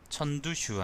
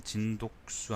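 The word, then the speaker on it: 陳獨秀: 예를 들면 이제 천두슈 아니면 순원 이런 식으로 그걸 하기도 하는데 읽기도 하는데 근데 저는 이제 그게 싫기 때문에 항상 진독수 아니면은 뭐 손문 이런 식으로 읽거든요.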